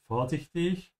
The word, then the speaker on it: vorsichtig: Vorsichtig is careful or cautious. Remember, especially if you're a beginner, that the V in German most of the time is pronounced like an F.